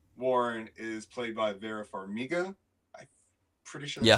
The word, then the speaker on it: Farmiga: Lorraine Warren is played by Vera Farmiga. I'm pretty sure that's Yeah, how you you pronounce her said name.